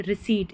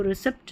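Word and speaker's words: receipt: पी कभी-कभी जो है साइलेंट रहता है। जैसे देखिए रिसीट इसको रिसीप्ट नहीं बोलते। रिसीट बोलते हैं। रिसीट जो रहती है रिसीट इसका सही उच्चारण है। रिसीप्ट नहीं।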